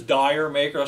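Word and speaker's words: D'yer Mak'er: joke the sort of the English pronunciation of Jamaica or did Jamaica so you can pronounce it as dire maker so a lot of radio DJs would do to say oh here's Led Zeppelin with dire maker I think I did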